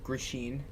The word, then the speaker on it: Grishin: William Knight versus Maxime Grishin. Swear to God, that's how you pronounce his name.